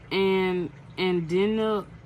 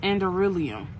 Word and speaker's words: Anderillium: And y'all, I'm trying to figure out how to pronounce it. It's Enderium.